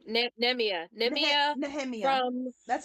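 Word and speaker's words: Nehemia: K name NE neia nemia from that's how I say it nemia nemia okay neia I the for me the H is silent but either way um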